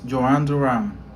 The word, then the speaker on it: Jhoan Duran: My name is Joan Duran.